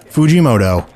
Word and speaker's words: Fujimoto: Jeff Fujimoto. The name is Far Eastern and pronounced phonetically. Jeff Fujimoto.